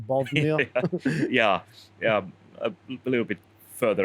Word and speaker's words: Bothnia: Because I want to say Bosnia, but it's like Bothnia.